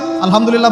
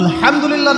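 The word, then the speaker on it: الحمد لله: আলহামদুলিল্লাহ ভালো আছে। তো আলহামদুলিল্লাহ না বলে সে বলেছে আলহামদুলিল্লাহ। ওই যে হায়ের উচ্চারণ পরিবর্তন হয়ে গেছে, এই কারণে অর্থ পরিবর্তন হয়ে দাঁড়াবে যে সমস্ত নিন্দা আল্লাহর জন্য, যিনি জগৎসমূহের রব।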